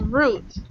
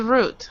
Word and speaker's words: route: be um said as root okay the pronunciation is a little different it means the same so whatever you use is correct route or route route or route some people pronounce it as root I'm just letting you